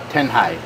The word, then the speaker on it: Tanjay: Am I saying it right? Tanghai? Tanghai. Tanghai. Yeah.